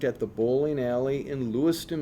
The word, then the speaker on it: Lewiston: the bowling alley in Lewiston Minnesota which he pronounced Loyce ttan and set up bowling